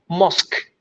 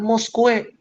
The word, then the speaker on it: mosque: Bilangnya adalah mosque, bukan mosque atau mosque.